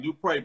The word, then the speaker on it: Dupré: You gotta put the accent, Toya, on that. Dupré. Did I say it right? Yeah. Dupré. I said it right, right? That's right, Dupré. Put the accent on that.